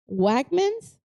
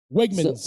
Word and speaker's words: Wegmans: Including the famous, oh my God, I don't know if I could pronounce it correctly. Wegmans. Wegmans. Wegmans.